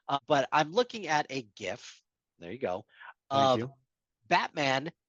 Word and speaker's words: GIF: Uh, but I'm looking at right now a GIF. GIF, GIF, whatever. Of GIF. Fine. Okay. Hard G stands for graphic.